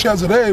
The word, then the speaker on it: Cesare: And then Caesar, Cesare, is real pronounced Cesare Borgia, which became the new image of the Lord.